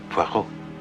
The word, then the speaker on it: Poirot: I've got a parrot with Mr. Poirot. No. Poirot. It is pronounced Poirot.